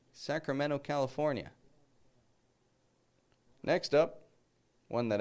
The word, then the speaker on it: Sacramento: Did you hear that? I didn't say Sacramento, California. A lot of people living in Sacramento, California. And you may travel there someday. And so make sure you can say it right.